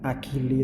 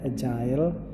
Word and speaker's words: agile: Ya, jadi di tempat kerja yang agile tulisannya agili tapi bacanya agile gitu ya.